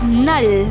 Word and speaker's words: null: learn german numbers zero is pronounced as null one in german irons irons irons two